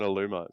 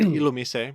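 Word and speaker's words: Illumise: better about it than Alum they're like the same I also it's pronounced ilum please shut up no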